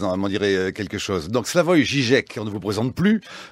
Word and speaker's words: Slavoj Žižek: C'est comme ça qu'il faut dire, Slavoj Žižek, oui. Ça va? Ça me fait peur parce que d'habitude on prononce mon nom d'une façon erronée et je deviens paranoïaque quand on le prononce correctement.